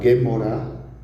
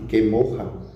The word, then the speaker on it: Gemara: Também vai trazer alguns conceitos da Gemara, que também pode ser pronunciado Gemorá, ou raramente Gemorra, que vem do aramaico Gamar, que literalmente é estudar ou aprender por tradição.